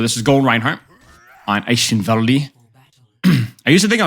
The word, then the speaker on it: Eichenwalde: So this is gold Reinhardt on Eichenwalde. I used to think I was hip because I said Eichenwald. But I actually asked a German guy, and he said, no, it's Eichenwalde.